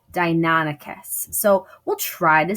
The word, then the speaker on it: Deinonychus: We were saying Deinonychus. It's actually Deinonychus. Deinonychus.